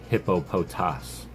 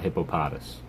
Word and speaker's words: Hippopotas: The proper way to say this Pokemon's name is Hippopotas, not Hippopotas.